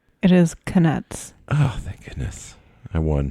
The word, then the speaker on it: Knuts: Pottermore says Zach's right on both pronunciations. You're really doing a deep dive, it looks like. It is Knuts.